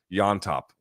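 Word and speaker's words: Llontop: Peru my mistake James yop the two L's become a y or as my wife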